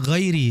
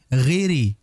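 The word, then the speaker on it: غير: terjadi kesalahan pada ghairi terkadang banyak orang yang bacanya seperti ghairi ghairi Giri seperti Gi Gi bukan gho maka dijelaskan makhraj huruf gain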